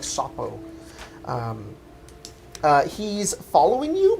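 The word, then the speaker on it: Šopo: is uh uh it's it's spelled s-o-p-o but the o has the two uh indentations on the top so it's like shapo um uh he's following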